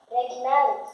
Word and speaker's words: regnant: Regnante. No, GN si pronuncia Come NH, esatto.